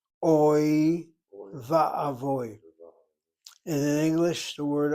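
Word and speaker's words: אוי ואבוי: A lot of people say, rather than oy, va, oy, voy, they say like the Ashkenazi say oy vey.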